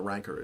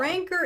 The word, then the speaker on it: Rancor: Who's saying it right? Rancor? Rancor. Rancor. That's how Fennec pronounced it.